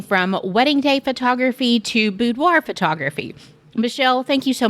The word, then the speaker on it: boudoir: people just to say budoir budoir I just like a bu and a d but technically it is a French word it's the French word for bedroom and so the technical pronunciation is budo but you will get